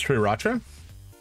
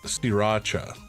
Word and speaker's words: Sriracha: Sriracha or Sriracha is what I'm seeing on Google. So that first R is a lie, apparently.